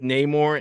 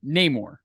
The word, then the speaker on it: Namor: You said Namor, his name. In the movie, he pronounces it Namor, but that's because he has a Hispanic accent. I've watched so many people break down Black Panther. Before seeing the movie, they called him Namor. After seeing the movie, they called him Namor. And it's like, pick one.